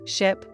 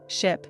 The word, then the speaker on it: ship: But here's the catch, ship has a short I sound, I, like in sit or bit, while sheep has a long e sound, I, like in see or sleep.